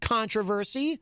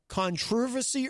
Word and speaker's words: controversy: the way they do how do they do it controversy controversy it's like they put the emphasis on a different syllable uh let's see mike